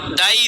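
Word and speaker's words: دے: খেয়াল করছেন আমরা কিভাবে পড়লাম, দাই দে দি, দাই জবর দিয়া দাই, আর জের দিয়া আমরা এটাকে মাজহুল করে পড়ছি দে, মূলত উচ্চারণ হওয়া দরকার ছিল দি, কিন্তু দেখেন এটা হলো ইয়ায়ে মাজহুল দেওয়া আছে তাই আমরা পড়তেছি দে।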